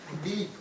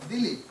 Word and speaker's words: Dilip: So when somebody pronounces my name is Dilip. And if I say to my another friend who knows 26 letters, he says deep. Then I say, what happened to your tongue? He says, what? Because this is not deep. This is Dilip.